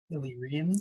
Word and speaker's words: Illyrian: How do you pronounce this word, Anthony? You're our resident modern Trek word nerd. Illyrian.